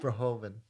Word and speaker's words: Verhoeven: Verhoeven.